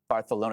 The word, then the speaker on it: Barcelona: It's Barcelona. Barcelona. That's the correct way of saying it.